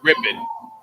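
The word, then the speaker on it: Rypien: Rippin.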